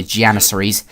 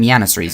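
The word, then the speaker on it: Janissaries: see five more janises I was calling them yanies in my previous commentary because uh you know in some languages the J is pronounced as a y but not I don't think you do that for janit never mind a little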